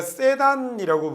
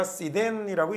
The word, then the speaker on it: sedan: The school bus에게 양보를 했다라는 얘기고 우리가 세단이라고 부르잖아요. 근데 세단이 아니라 sedan이라고 읽는 게 맞는 단어입니다. 자, the bridge가 threatened to give way라는 말이니까 길을 내줄 것 같은 위험에 처해 있다라는 얘기거든요.